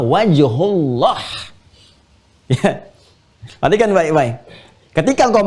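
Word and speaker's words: وجه الله: Bukan fathamma wajhallah, tapi fathamma wajhullah.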